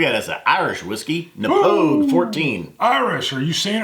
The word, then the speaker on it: Knappogue: it pronounced that way it's with a K npog the K is silent now us as dummies